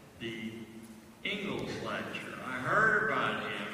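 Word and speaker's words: Inglis: His name was Alexander Ingalls, but that's spelled I-N-G-L-I-S, and the honor lecture is called the Ingalls Lecture.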